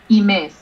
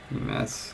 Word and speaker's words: Imes: Imes. Imes, okay. Yeah, with stress on the second syllable.